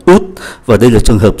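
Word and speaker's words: août: đặc biệt, đó là tháng 8 có bắt đầu bằng ký tự A và ký tự A này không phát âm, do đó chỉ còn OVI và tháng 8 phát âm là út, và đây là trường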